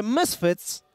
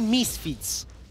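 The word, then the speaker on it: Misfits: do wszystkich teraz powiem, dlaczego ludzie nie rozumieją, że mysfit jest poprawną wymową, a nie misfit. Mesfit przez tak jakby y ze względu właśnie na pochodzenie tej nazwy.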